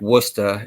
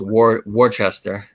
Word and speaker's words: Worcester: Just like Worcester is Worcester.